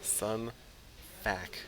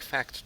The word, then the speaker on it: Fac: Sun Fac, like fact check. Yeah. Fac. Just gotta remove the T and try to pronounce it.